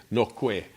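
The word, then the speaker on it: Noquet: French even though because the French won't pronounce the T so they'll say noqu even though it looks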